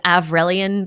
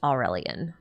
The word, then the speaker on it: Avrelian: They spell it with a V instead of a U, though. So it's Avrelian, but I don't think you pronounce the V that way. I think it's meant to be pronounced Aurelian.